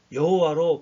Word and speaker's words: 여호와: 없었습니다 발음할 수도 없었습니다 그래서 yhwh 예 이런 식으로 하나님의 이름을 자음으로만 기록하고 오랜 세월이 지나다 보니까 나중에는 본래 발음도 잊어버렸습니다 그럼 그래서 한참 후대에 와서야 그 기록된 약자 yhwh에 그냥 적당한 모험을 붙여서 여호와로 발음하기 시작했다고 합니다 얼마나 하나님이 어려웠고 두려워했으면